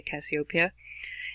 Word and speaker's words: Cassiopeia: I've heard lots of different pronunciations. I usually say Cassiopeia.